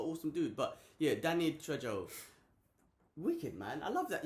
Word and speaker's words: Trejo: Trejo. Yeah. Trejo.